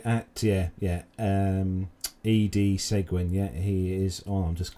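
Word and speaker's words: Seguin: um instagram just uh so his his surname is spelt s-e-g-u-i-n so his so the instagram is actually at ed segwin so it's e-d-s-e-g-u-i-n that i'm just i'm just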